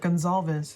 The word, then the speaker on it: Goncalves: And I was grateful to hear how he pronounces his own name, because it's a difficult name, but he said it like Goncalves.